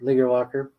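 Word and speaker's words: Leger-Walker: Leaguer Walker, yeah.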